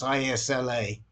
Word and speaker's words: Isla: How do you pronounce ISLA? It's Isla. Isla.